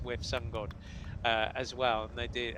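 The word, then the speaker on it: WiV SunGod: It is with Sun God as well, and they did.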